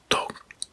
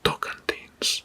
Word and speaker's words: Tocantins: the regions or districts in Brazil, which is Tocantins. I hope I pronounce it correctly. Tocantins.